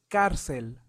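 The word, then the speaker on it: cárcel: have carel carel right did you notice the accent on the a so it sounds carel carel in carel means jail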